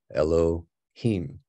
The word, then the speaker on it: Elohim: you have Alf lad W hey y so Elohim is literally how it's pronounced but long story short some of these